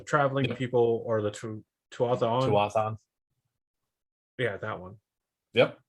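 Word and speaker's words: Tuatha'an: Tuathan. Yeah, that one. Yep. You said it right.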